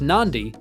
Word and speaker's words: Nadi: live spend some time in nadi pronounced Nandi to buy wooden artefacts